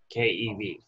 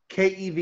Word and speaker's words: keV: What is the wavelength of an X-ray photon with the energy 10 keV? KeV is how they say it sometimes. It's kilo electron volts, but most people just say KeV.